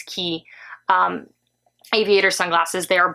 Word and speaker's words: Quay: looks like it's pronounced it's spelled Quay but it's key um aviator sunglasses they